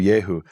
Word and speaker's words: Yehu: So Yehu is short for Yehohu. And what happens there is we have a linguistic phenomenon called dissimilation. When you have a certain sequence of sounds, O-U, it breaks apart and becomes Eu. So the shortened form of